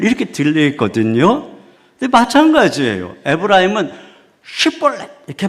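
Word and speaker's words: שיבולת: 에브라힘은 슈벌렛 이렇게 봐. Պ릿 근데이 증면 벌렛 이렇게 발음을 하는 거예요.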